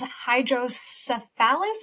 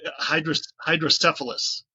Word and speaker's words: hydrocephalus: us, but it is hydrocephalus. Is that correct? So close. So close. Wrong emphasis on the syllable there. It's hydrocephalus.